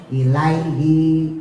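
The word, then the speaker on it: إليه: Tapi kalau harakatnya mati sukun ilaihi. Nah, itu harakat sebelum H-nya itu sukun mati pasti pendek ya.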